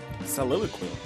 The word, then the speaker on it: soliloquy: The problem was pronunciation. Soliloquy.